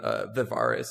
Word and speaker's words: Vivarus: So my full name is, and you pronounce my screen name Vivarus. It's more of like a Latin pronunciation than anything else. I don't know why, but people just decide to put a random I somewhere in it. There's no I.